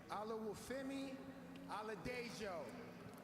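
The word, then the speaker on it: Oluwafemi Oladejo: And with the 52nd pick in the 2025 NFL Draft, the Tennessee Titans select Olawufemi Aladejo out of UCLA, edge rusher. Nicely done on the pronunciation.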